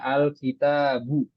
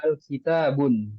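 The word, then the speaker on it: الكتاب: enggak ada Alif lamnya Nah kalau kata tersebut ada Alif lamnya dia enggak boleh tanwin dibaca alkitabu kita enggak boleh baca alitabun itu salah besar Nah kalau enggak ada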